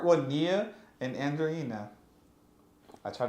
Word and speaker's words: Nia: Is it N-I-A? Yes. It's just Nia? Like Yes. Nia Long? Like Mia.